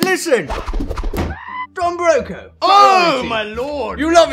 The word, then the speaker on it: Don Broco: I thought it was actually pronounced Don Broca. Oh, yes, you thought it was Spanish, yes, didn't you? And I was like, hold on, there's something Spanish going on.